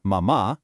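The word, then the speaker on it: mamá: We have mama with the accent hitting that final ah. The intensity goes right on that vowel, meaning mother.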